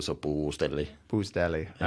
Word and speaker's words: Puustelli: So you say it without any enthusiasm, so it becomes Finnish. And then you kind of sit on the long vowels. You sit on the U, so Puustelli.